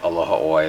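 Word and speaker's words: Aloha ʻOe: They say it all sorts of ways, but very seldom do they actually say aloha oi.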